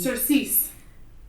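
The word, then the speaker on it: surcease: embarrassed sir Chase sir s u r c a s e c e a s e cers well I just woke up our child with cers it's how it's pronounced her third word she's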